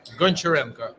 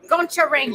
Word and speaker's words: Goncharenko: I'm going to try really hard to pronounce his name right. Oleksii Goncharenko. Goncharenko.